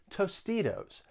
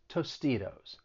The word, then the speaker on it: Tostitos: on your fingers and then you hear the flap t in tostitos that second t i'm gonna use a flat t comes between two vowels tostitos and well let's let's